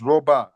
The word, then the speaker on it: Robah: Now, make sure I'm pronouncing your name right. Roba. Yeah. It's Roba.